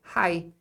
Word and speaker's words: high: aqui olha que interessante palavras que t i g essa combinação aqui é pronunciada como I Então a letra i nessa nesse bloco aqui ó é sempre i e o GH não é pronunciado então quando você vê i g você fala I Então aqui é High